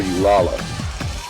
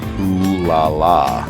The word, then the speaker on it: Ulala: featuring the iconic reporter ulala oh sorry o laa is her name it's spelled UL l a l a hey there Space Cats